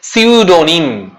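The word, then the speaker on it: pseudonym: জানো প্রমোদ চৌধুরীর ছদ্দনাম হচ্ছে বীরবল বুঝতে পেরেছ সিউডোনিম ডো এন ওয়াই যদি আমি বলি সিউডোনিম মানে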